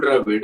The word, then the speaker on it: Dravid: So because even for Rahul Dravid, I always heard people saying Rahul Dravid in Chennai. So he's not Rahul Dravid, he Rahul Dravid.